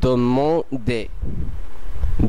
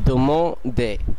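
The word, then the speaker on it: demander: এই শব্দটি আপনারা যখনই দেখবেন এন তখনই সেটিকে নাক দিয়ে উচ্চারণ করার চেষ্টা করবেন। এই ক্ষেত্রে এটির উচ্চারণ হবে দমো দে, দমো দে যার অর্থ জিজ্ঞাসা করা।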